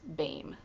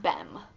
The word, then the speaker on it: Bame: And Martina Bame said her name is pronounced Bame, not Bem.